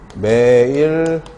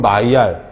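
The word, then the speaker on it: Maillard: 다른 말로 메일라드. 메일라드가 사람 이름이에요. 근데 프랑스 사람이래. 메일라드는 영어식으로 읽어서 메일라드고 프랑스 사람이니까 불어식으로 읽어줘야 되잖아. 불어식으로 읽으면 마이알.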